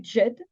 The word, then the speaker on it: Djed: C'est la cérémonie du Djed, Z, on prononce, qui était pratiquée surtout